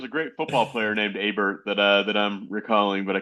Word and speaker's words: Hebert: I guess it depends where you're from, but we say Hebert in New England. Hebert, thank you, thank you. I think there was a great football player named Hebert that I'm recalling, but